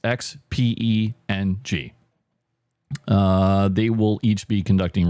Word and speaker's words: Xpeng: That's how it's pronounced. Xpeng.